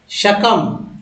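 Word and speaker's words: succumb: या त्यागना शकम शक कम आ बहाने लगा बोलना है क्योंकि बी जो है साइलेंट से कम यानी परस्त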